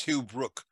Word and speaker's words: Hughbrook: And do you pronounce it Hughbrook? It's Hughbrook, but I Hughbrook.